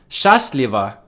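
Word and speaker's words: Счастливо: stress the first syllable chast leva means happy or lucky they lived long and happy but if you stress the second syllable it means take it easy we won't say bye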